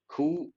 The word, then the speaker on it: coup: Third option, turmoil, coup, P is silent here, which have triggered protests, which have triggered.